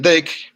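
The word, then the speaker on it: deque: Y la estructura de datos se llama DEC, se pronuncia DEC, pero se escribe de esta manera, ¿no?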